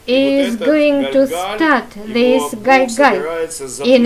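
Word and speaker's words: גלגל: course of Hebrew, so I will pronounce correctly the word Galgal. The vortex in Hebrew means Galgal, and Galgal is incorrect Russian pronouncing, such as Jesus instead of Yeshua. That's why we shall say Galgal.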